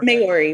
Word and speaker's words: Maori: Am I pronouncing it correctly? It's Maori, but that's fine.